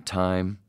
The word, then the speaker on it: thyme: and maybe some turmeric, and some thyme. Took me a long time to remember that that's how you pronounce that one.